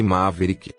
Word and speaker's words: Maverick: hoje vamos falar do forma veículo uma verídica pronuncia-se Maverick foi um automóvel criado pela fora dos Estados